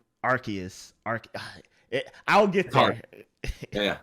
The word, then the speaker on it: Arceus: for branding purposes and not making it sound like arse nintendo and i'm sorry pokemon company just changed the official pronunciation to arceus there's a little backstory